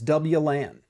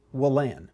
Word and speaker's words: WLAN: a point of that the common way that we pronounce wireless LAN is W LAN or wireless LAN I was talking to a gentleman who kept saying well LAN will land well and now that's weird it's different but I'm gonna tell you